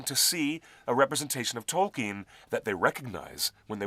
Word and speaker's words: Tolkien: It's Tol with the emphasis T-O-L-L, and the last syllable is keen, as in, I'm keen to meet you. Nice to meet you. So it's not Tolkien? Nope. It's Tolkien. 2 syllables.